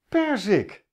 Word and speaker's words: perzik: ook maar één t perzik de klemtoon ligt op per want ik zeg namelijk